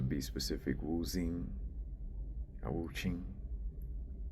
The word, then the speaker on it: Wuxing: specific, Wu Xing or Wu Qing, spelled Wuxing, and I think the X is meant to be pronounced like Qing, like a Ch.